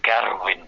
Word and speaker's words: Gerwyn: because that magnificent Welshman, Gerwyn Price, or Garwin Price, I have to say it.